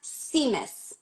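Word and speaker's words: tzimmes: It's pronounced It's pronounced Seamus.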